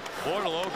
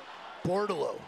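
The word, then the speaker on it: Bordeleau: Bortolo. It's a great hockey name. Terrific. You like it because it rhymes with Bordeaux.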